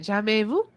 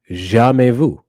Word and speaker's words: jamais vu: Jamais vu? I think so. I feel like I'm pronouncing because MAIS in French is May. It's no S sound at the end. It's May.